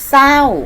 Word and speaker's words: เศร้า: หลาย คำ นะ คะ เช่น คำ ว่า ศรี ศรัทธา เศร้า นะ อารา ใส และ เศรษฐี ค่ะ ซึ่ง นะ คะ จะ ไม่ ออก เสียง ตัว รอ เรือ นะ คะ จะ ออก เสียง เฉพาะ พญา ชา ตัว หน้า คือ ศ. ศาลา ค่ะ ต่อ ไป นะ คะ